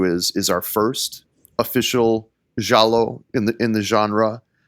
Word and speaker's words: giallo: So, jalo is Italian for yellow. And uh I was speaking with my Italian Spanish colleague just to make sure so I got the proper pronunciation of Jallo.